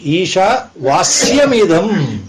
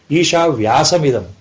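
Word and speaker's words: ईशावास्यमिदम्: Instead of talking Vasya, you were using the word Vyasa. It should have been Isha Vasyamidam Sarvam. The correct pronunciation, Isha Vasyamidam Sarvam Yatkincha Jagatyam Jagat. What you are narrating? Isha Vyasamidam. If anybody sitting here knows a little Sanskrit, they will laugh at you.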